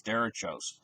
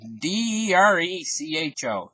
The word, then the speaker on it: derecho: Midwest and everything, these derechos.